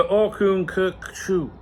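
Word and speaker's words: Orkun Kökçü: Cocku the the O is similar to the I in bird or the U in burn.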